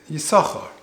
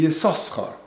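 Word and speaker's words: יששכר: It's interesting, Yisachar is spelt with 2 sins, but yet we will read it Yisachar. If you actually read it as it's written, it should be Yisoschar.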